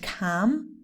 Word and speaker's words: calm: next one palm and calm again no l not even a little bit okay so pam come for example you have to calm down or let me